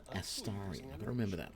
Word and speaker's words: Astarion: It's Astarion.